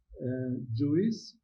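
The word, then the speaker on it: JeOS: That came to the idea and the notion, and I like it, JUICE. It's a bit strange pronunciation of the 4-character acronym on this slide.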